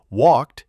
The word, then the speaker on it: walked: And after sounds like k, p, s, sh, it sounds like t. Walked sounds like walked.